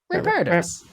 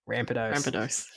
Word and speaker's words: Rampardos: Yeah, Ramparos. Oh, Rampardos. There's no vowel in between the R and the D. Rampardos.